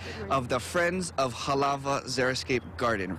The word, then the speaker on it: xeriscape: First of all, I don't know much words that start with the letter Z, or sorry, X, but pronounced like a Z. But xeriscape, there's so much more